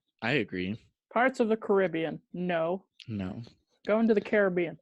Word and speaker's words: Caribbean: You go Caribbean when you talk about the place, but it's Caribbean when you're talking via about pirates. Yeah. Yes. Thoughts? Yeah. I agree. Parts of the Caribbean.